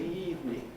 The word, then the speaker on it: evening: Good evening, evening, just 2 syllables, eve and me.